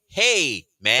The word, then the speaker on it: Heyman: don't think his name I don't know how to pronounce his name it's hyon h e hey hey man hey oh hey man yeah Heyman all right oh